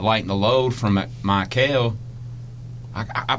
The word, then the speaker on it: Mikel: Like Robbie just said, why not lighten the load from Michael? I pronounce his first name wrong all the time. Is it Michael or Mike? Mikel. Mikel.